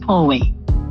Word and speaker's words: Pooe: Um, it's PO. It's it's Yeah. pronounced Pway. Poe. Yes.